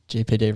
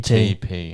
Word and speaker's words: GPT: Chat GTP, say it right. GPT. GTP. Oh, GTP.